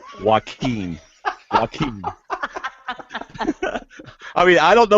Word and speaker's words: Joaquin: I actually wrote it on my paper, Wahkeen. So I'd pronounce it right. Joaquin. Joaquin.